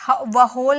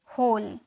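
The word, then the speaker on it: whole: ओ एल ई होल इसे डब्लू को मत व होल मत बोलिएगा ठीक है यहां भी डब्लू साइलेंट होता है यहां पर हम इसे बोलेंगे होल ठीक है ये क्या है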